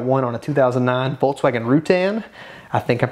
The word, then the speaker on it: Routan: We got one on a 2009 Volkswagen Routan. I think I'm pronouncing that right.